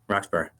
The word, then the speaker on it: Roxborough: Roxborough.